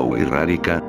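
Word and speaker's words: Wixárika: La Sierra Wirikuta es uno de los territorios más sagrados de la cosmogonía de los indígenas Huicárika, se pronuncia Huirárika, Huicholes, ya que según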